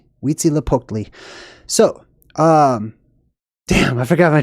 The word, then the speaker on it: Huitzilopochtli: It's pronounced Huitzilopochtli. Huitzilopochtli.